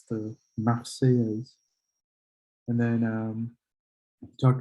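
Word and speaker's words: La Marseillaise: it is the marseilles and he just couldn't pronounce that because of his accent which is totally fine so again it's the maxey is and then um we talked about the date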